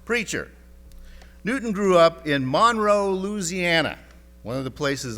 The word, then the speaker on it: Monroe: Newton grew up in Monroe, Louisiana, one of the places I lived when I was a kid. I don't know why it's pronounced Monroe, not Monroe, but that's the way it is in Louisiana.